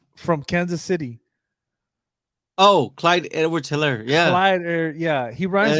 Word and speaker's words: Edwards-Helaire: Oh, Clyde Edwards-Helaire.